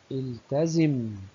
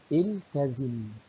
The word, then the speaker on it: التزم: نقول: التزم بتعليمات الطبيب. التزم، لاحظ همزة الوصل ألف مجردة من الهمزة، نقول التزم، ولاحظ أننا ننطق هذه الهمزة في بداية الكلام فقط ولا ننطقها في حالة الوصل.